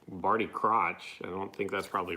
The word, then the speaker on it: Crouch: Crouch. Not crotch.